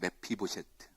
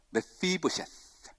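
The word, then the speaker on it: מפיבשת: 원어로 이름은 메피보셰트입니다. 메피보셰트. 이게 발음하기가 쉽지가 않아서 따라하라고 하지는 않습니다. 영어로는 더 어렵습니다. 메피보셰트.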